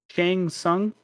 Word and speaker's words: Shang Tsung: Shang Tsung. Did I pronounce that right?